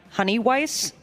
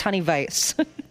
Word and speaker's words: Honey Weiss: That one in uh people cannot wrap their head around the fact that it's not Honey Weiss, it's honey vice.